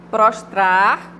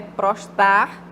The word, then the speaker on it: prostrar: duas sílabas né bobo prostrar Geralmente as pessoas engolem o último R né prostar não é postar é prostrar reivindicar ao invés de